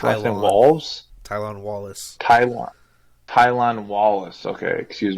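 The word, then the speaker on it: Tylan Wallace: the next one is Tyler how do you pronounce walls tylon Wallace tylon tylon Wallace okay excuse me uh his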